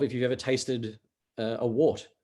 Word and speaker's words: wort: really weird, I mean, wort is in W-O-R-T. Yeah. I'm going to put a little bit of water. Pronounced wort, but that'll just confuse people even more.